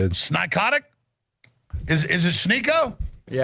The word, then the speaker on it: Sneako: You call me Sneaky. Let's say my name correct. Sniko. Snicklets. Snicklets. Snicklets. That's good. Snikyotic is Is it Sneo?